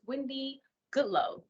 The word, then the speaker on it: Windy Goodloe: are having a conversation with our guest Miss Wendy Goodloe did I pronounce that correctly yes he did thank you